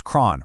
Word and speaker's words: cron: And finally, cron comes from Chronos, the Greek word for time, so it's cron, rhyming with John.